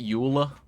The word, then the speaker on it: Euler: I called it Euler, Euler's circuit, or Euler's circuits. But I've also heard it pronounced Euler, which is just wild to me. Because that is not how it's spelt. It's like ruler, except you replace the R with an E. And not the last R, but the first R.